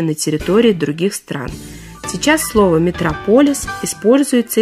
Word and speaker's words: Метрополис: версии связаны некоторые путаницы ударение существительным Метрополис оно падает на второй слог Однако в русском слове митрополия ударение традиционно на третьем слоге и митрополис который по сути то же самое Это ударение сохранил Так что нет никакого метрополиса есть Метрополис а Если возникнут сомнения вспомните про Мегаполис и ударение сразу станет на свое место и на этом У